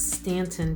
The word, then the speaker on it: Staunton: which way it was it's spelled staunton but it's stanton virginia stanton and it has just